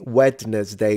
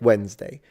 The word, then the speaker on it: Wednesday: Yeah, the correct pronunciation of Wednesday should be wetness day, which is how every um beginner of English mispronounces it. They all say wetness day because I mean that's how it's spelled, isn't it? But then you correct them and say, "No, just think when right Wednesday."